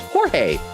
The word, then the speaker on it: Jorge: But that is how the name is pronounced. Jorge.